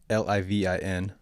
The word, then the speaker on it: Livin: So it's Grateful Livin, Livin, no G. Gotta let your inner Hawaiian come out. We don't pronounce our G's.